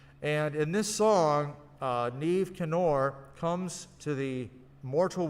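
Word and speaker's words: Niamh: uh spelling uh and neve is spelled n-i-a-m-h it's it's not a phonetic language uh neve canor is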